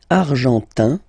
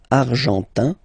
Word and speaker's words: argentin: Argentin, IN, gives you this un sound. Argentin.